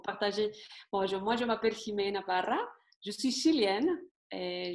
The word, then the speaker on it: Ximena: Vas-y, prononce-le bien, que tout le monde le prononce bien. Jimena. Tu peux répéter? Jimena. Bon, ici, tout le monde me dit Chimène, Ximena, n'importe.